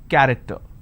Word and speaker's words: character: each nation its present character. So you see the word character. I have the letter CH and it's pronounced as K. I don't say character, I say it character.